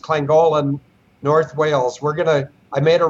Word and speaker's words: Llangollen: Denise adventure, we're going back to it's actually pronounced Llangollen, North Wales.